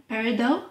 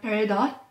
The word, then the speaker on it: peridot: And you chose a card representing peridot or peridot. You can pronounce it both ways. Both are correct.